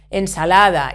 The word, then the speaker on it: ensalada: Ensalada, it ends in vowel, so we stress the penultimate syllable.